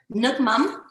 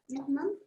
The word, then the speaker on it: Nước mắm: Nước mắm. So you say, how do you say it, Vanessa? Nước mắm.